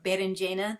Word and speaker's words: berenjena: And you can say either merendzhena or berenjena.